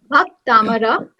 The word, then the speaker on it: Bhaktamara: I want your lips, like you should pronounce it with me. Bhaktamara.